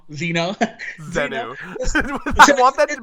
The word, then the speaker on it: Zeno: If Zeno was here and you pronounced his name as Zenu, he would fucking kill you. He'd be like, never fucking say it like that ever again. Zeno.